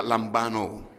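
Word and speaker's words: λαμβάνω: La primera palabra en el griego es una palabra que que se pronuncia lambano.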